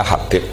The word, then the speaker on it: Habib: Itu di harokatnya kitab itu ada yang nulis Hubab. Yang benar, oh enggak, yang benar itu bacanya Habib.